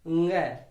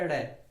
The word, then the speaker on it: ङ: इसका उच्चारण फिर से सीख लो, ङ। क्योंकि जब हम छोटे छोटे थे तो हम पढ़ते थे क ख ग घ ड़, वास्तव में ये ड़ नहीं होता, ये ङ होता है, ङ।